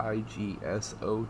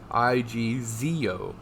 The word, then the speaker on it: IGZO: know anything about a igso technology no wait i've said it wrong my bad i'm high i g zeo technology it says uh japan's